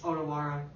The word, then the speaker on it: Otawara: Otawara.